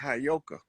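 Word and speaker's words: Heyoka: That word is properly pronounced Hayoka.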